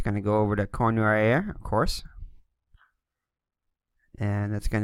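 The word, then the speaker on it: Cournoyer: All right, looks like it's Cornoyer. It's the best I could get out of the pronunciation I found on the internet.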